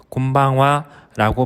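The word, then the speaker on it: こんばんは: 인사는 저녁 인사입니다 해가지고 난 뒤에 하는 인사말로 곰방와라고 발음합니다 뜻을 일본어로 직역하면 오늘 저녁은라는 뜻이 됩니다 저녁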